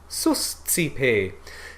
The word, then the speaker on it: suscipe: But susci, susci, suscipe.